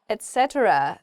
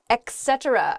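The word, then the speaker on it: etc.: need a penguin suit Etc not Etc oh yeah okay I've heard I hear this EK EK thing a lot Etc is just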